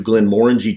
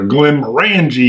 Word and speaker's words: Glenmorangie: the balcony 12 year i think we'll do glenmorangie 10. orange is good we know how to say it this time first time we did it when i said it oh glenn randy you know yeah that's how i said it i think that's